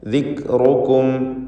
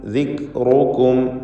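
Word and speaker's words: ذكركم: കിതാബൻ ഫീഹി ദിക്റുക്കും, ദിക്റുക്കും കാഫിൻ്റെ സുക്കൂൻ ഉച്ചരിക്കുമ്പോൾ ശ്രദ്ധിക്കണം. ഹംസ് എന്ന സിഫത്തുള്ള അക്ഷരമാണ്. ദിക് എന്ന് ശബ്ദത്തെ ഖൽഖല നൽകി ചലിപ്പിക്കുകയോ ദിക്റുക്കും എന്ന് തീരെ കേൾക്കാതിരിക്കുകയോ ചെയ്യരുത്. മറിച്ച് ദിക്റുക്കും, ദിക്റുക്കും എന്ന് ഉച്ചരിക്കുക. റാഇന് തഫ്ഖീം കൊടുക്കണം.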